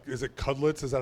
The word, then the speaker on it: Cudlitz: Is it Cudlitz?